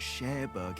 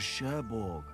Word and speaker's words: Cherbourg: The place he came from wasn't Cherbourg, it was Cherbourg. Really? Yeah, I couldn't what pronounce were it.